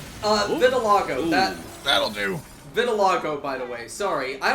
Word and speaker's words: vitiligo: spelled Vitiligo yeah it's spelled that but it's pronounced vitilago I was a medical student fair enough um